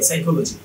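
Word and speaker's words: psychology: দেখেন এই পিটা বাদ, তাহলে কি থাকলো? এস ওয়াই সাই সি এইচ ও, সাইকো এল ও জি ওয়াই, সাইকোলজি।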